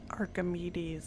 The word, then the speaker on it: Archimedes: in the papers I've looked through here Archimedes Archimedes is how you pronounce it well why are you here I